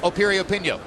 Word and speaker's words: Piriyapinyo: the name begins with a P but it's pronounced Opie reopen yo go figure as we mentioned earlier what a